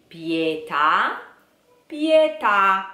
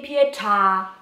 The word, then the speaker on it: pietà: father mercy Bob bow PETA PETA don't say pietà Oh Pete ha ha ha no PA da da da stress on the last a ok like a French word so Bob ba ba